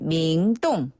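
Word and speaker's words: 明洞: 갈 거예요라고 하려면 야오치 밍동 야취 밍동네 중국 분들은 명동이라고 발음 안 하고 밍동이라고 하거든요네 아 밍동 예 밍동 명동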